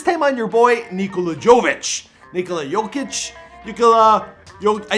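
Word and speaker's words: Nikola Jokić: favorites video this time on your boy nikolajovic nikola jokic nicola yo i said it right in the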